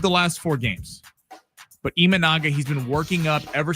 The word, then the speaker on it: Imanaga: Show Imanaga. I said it right.